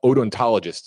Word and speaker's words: odontologist: uh complete examination uh ontologist anthropologist excuse me odontologist is the correct pronunciation anthropologist uh confirmation of the identity of